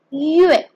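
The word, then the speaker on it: ü: It is written as u with the 2 dots, but it is pronounced as yue, yue. So you first make your a pout like you're about to whistle, and then you say yue, yue.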